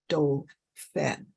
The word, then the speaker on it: Dauphin: We'll pronounce it as Dauphin.